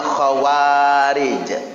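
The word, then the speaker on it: خوارج: Kalau zaman dulu namanya khawarij, kha waw ada alif, jadi dua harokat bacanya, ro dan jim.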